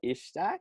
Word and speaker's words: Ishtiaq: I'm here with Hafsa Ishtiaq, right? Is that how you Ishtiaq. pronounce it?